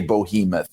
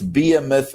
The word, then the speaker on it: behemoth: Vince McMahon would say bohemoth. A lot of other announcers have said bohemoth. That's not even a word. It's it's be it's behemoth or behemoth. You could say it's not bohemoth.